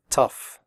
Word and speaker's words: tough: pronounce the word correctly the 0 ugh in tough is pronounced off like in stuff tough recipe if you have